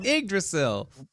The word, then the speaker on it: Yggdrasil: It's Yggdrasil.